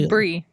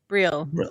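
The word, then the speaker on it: Breel: Brielle Mbolo. Who's Bree? Brielle. Brielle. My bad. I forget. I keep forgetting there's an L at the end.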